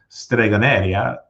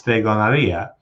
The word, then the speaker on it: stregoneria: said, you know that it's not pronounced stregoneria, it's stregoneria.